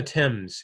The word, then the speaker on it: Thames: Black Sea goes under Romania and then the Thames it looks like fames but it's pronounced Tim's it's a short River it just goes through